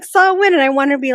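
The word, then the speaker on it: Samhain: day about Halloween and he's like Sam Haye I'm like saw win and he looked at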